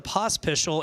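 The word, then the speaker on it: Pospisil: do you get to POS pistol and there's no h in Tad's last name that's how it's pronounced race fans that is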